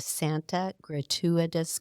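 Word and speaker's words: Santa Gertrudis: He was captivated by the beauty of cool, refreshing waters of the Santa Gratuitous Creek. And I just want you to know that is how you pronounce it because I looked it up.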